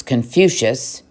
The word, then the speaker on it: Confucius: the old philosopher and Kung Fu to zoo whose name people of the West would pronounce Confucius that's much easier by that time China